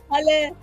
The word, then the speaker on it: Hala: am beyond grateful uh my name is Hal it's pronounced like halah and thank you so